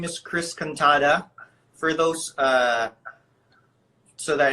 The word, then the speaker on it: Cantada: my name is Chris cantata for those so that it's easy for you to pronounce my name think the katana sword katana katana girl force and the